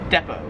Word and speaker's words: depot: So yeah, Americans, we pronounce it depot. In Australia, they pronounce it depot.